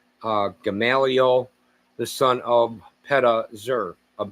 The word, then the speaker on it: Gamaliel: of Ammihud; of Manasseh, Gamliel is how you say it in Hebrew, but you say in English, Gamaliel the son of Pedazur;